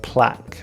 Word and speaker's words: plaque: the pronunciation is different plaque and again the UE are silent but the a has